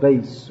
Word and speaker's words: bass: a kind of fish spelled the same way but pronounced differently for your information not that it will help you in your life at all is it in english it's called bass although it's spelled b